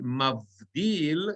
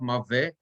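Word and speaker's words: מַבְדִּיל: Vayomer Elohim yehi rakia betoch hamayim vihi mavdil. It's not mave, right? Mav, silent, right?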